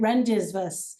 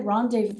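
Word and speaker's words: rendezvous: and that's because I pronounced it rendisvas. So when they said rendevu I'm like what?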